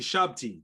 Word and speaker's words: shabti: my new look geek to my nerd you shabti that's how you say it thank you so